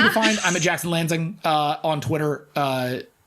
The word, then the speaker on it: Lanzing: find i'm a jackson lansing uh on twitter uh l-a-n-z-i-n-g everyone likes to put an s in the middle or take out the n so that my name rhymes with danzig it doesn't lanzing so you can go